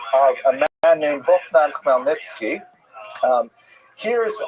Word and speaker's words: Khmelnytsky: So this is just the way it's written, and if you understand Polish phonetics, you'll know that it's pronounced Khmelnytsky, which is also not so easy to pronounce, but that's not hard.